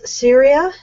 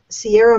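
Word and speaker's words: Ceara: Oh my goodness, I'm going to mispronounce this. Syria? Sarah? C-E-A-R-A McCord. Oh, that's Ciara Cord.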